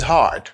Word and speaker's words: hard: The job is hard. This job is hard. The job is hard. Faut accentuer H là. Pas dire had tout. Faut prononcer R là. Hard.